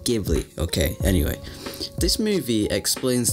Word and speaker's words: Ghibli: ghibli film spirited away ghibli ghibli shut up it's pronounced ghibli okay anyway this movie